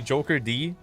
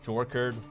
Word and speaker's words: JokerD: A lot of people say Joker D. Just rush last. I'd say. How do you say Joker, you know? Jorkerd. Jorkerd is kind of rare though. Like, not many people say it like that. That's like unusual.